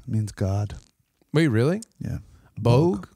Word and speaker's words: Bog: God wait really yeah Bogue like bogey bulk book well that's that's all